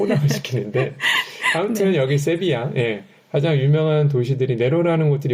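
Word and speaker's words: Sevilla: 제일 잘 알고 계신 세비야라고 있죠 한국에서는 세빌리아라고 아시는데 스페인에서는 세비야 L 두 개가 있으면 요거는 y처럼 생각하시면 됩니다 발음을 그래서 세비야라고 해주시면 되고 이탈리아 말이 이게 시빌리아예요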